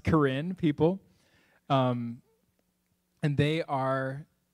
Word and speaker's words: Karen: my goodness sound it looks like it'd be pronounced Karen but it's there's just they use another alphabet